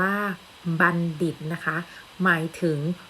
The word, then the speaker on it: บัณฑิต: จาก ภาพ นะ คะ ทำ นี้ อ่าน ว่า บัณฑิต นะ คะ หมาย ถึง